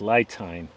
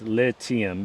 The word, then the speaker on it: LITime: It looks like it's pronounced LITime, but it's LITime because all their products are lithium batteries. Kind of a play on words.